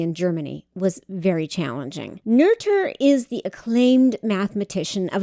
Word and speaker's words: Noether: Her name looks like it should be pronounced Noether, n o e t h e r, but it's actually pronounced Noether.